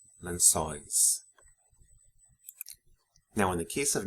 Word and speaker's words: lençóis: Lençol, lençóis. Notice the accents in and the open pronunciations of the vowels in the endings of nouns ending in EL and OL. Anéis, papéis, lençóis.